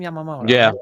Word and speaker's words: Yamamoto: Yamamoto.